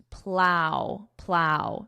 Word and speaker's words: plow: Notice the pronunciation plow plow snow plow.